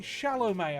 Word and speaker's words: Chalamet: listening to star oh timothy shallow may apparently it's pronounced that sounds like a french surname nice i still don't